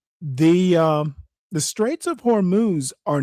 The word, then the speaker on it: Hormuz: I think he meant hormuz, not homo.